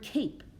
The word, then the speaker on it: cape: here is the word cape it's a vce syllable type this and vce syllables the e is silent it jumps over that